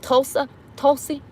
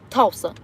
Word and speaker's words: Tulsi: Oh, speaking of which, I was posting some stuff with, I can't say her name, Tulsi. Tulsi. T-U-L-S-I. I memorized that. I think that's how you spell it.